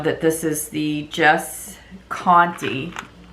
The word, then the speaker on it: Conte: this is the jess conte i think that's how you pronounce it that's how you pronounce that name in my neck of the woods so um but yeah maybe it's not county but you can see the